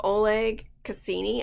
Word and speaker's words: Oleg Cassini: And it's just Oleg Cassini, I think is how you pronounce it.